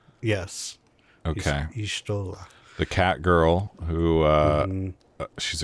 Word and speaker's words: Y'shtola: Did I pronounce that right? Yes. Okay. Y'shtola.